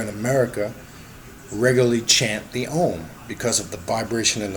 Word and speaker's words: Om: You have Om, some pronounce it O-M, Om.